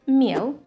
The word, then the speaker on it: мел: For example, the word «мел», which means «chalk» in English, is pronounced with a hard sound.